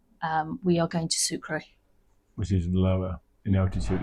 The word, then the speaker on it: Sucre: to sura sucra sucra sucra is the French pronunciation Spanish pronunciation sucre okay then in the interest of keeping it real 400 a.m.